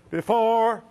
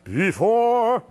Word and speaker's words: before: The first syllable has to crescendo into the second syllable. Otherwise, you get before, instead of before, this thing again.